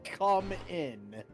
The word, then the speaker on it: cumin: check now no no it's spelled c u m i n that is unfortunate that is unfortunate it's literally come in huh that is I'm